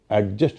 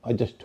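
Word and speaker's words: adjust: अलावा हमने बताया था अजस्ट शब्द जिसमें की डी और जे साथ साथ होते हैं वहां पर डी का उच्चारण नहीं होता है तो एडजस्ट नहीं होगा अजस्ट होगा हमने ई ए आर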